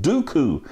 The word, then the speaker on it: Duqu: zero day exploit called dooku now it's like count dooku owns star wars except that it's spelled different it's spelled d-u-q-u what anyway everybody's got